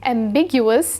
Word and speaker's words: ambiguous: The stress is on the second syllable.